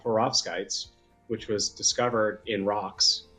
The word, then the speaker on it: perovskite: And I'm going to butcher this because it's perovskite. Is that how you pronounce it?